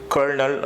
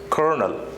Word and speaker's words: colonel: are pronouncing this word it's not curled or something like that but Colonel Colonel now the next word